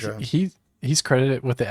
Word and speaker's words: Aja: It's Alejandro Aja. So like Aja.